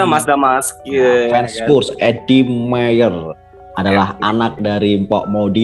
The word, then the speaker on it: Meijer: Tapi untuk pelafalan Eddie Mayer jangan Eddie Maguire ya. Tolong ya. Eddie Mayer bukan Eddie Maguire.